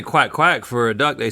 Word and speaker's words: coin coin: they don't say quack quack for a duck.